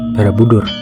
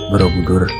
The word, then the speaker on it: Borobudur: Candi Borobudur berdiri di atas Bukit Barabudur. Orang Jawa terdahulu menyebutnya dengan sebutan Borobudur. Dikarenakan cara membacanya mereka yaitu huruf A dibaca menjadi huruf O seperti hanacaraka menjadi honorok.